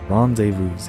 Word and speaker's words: rendezvous: I learn how to pronounce words properly. Rendezvous.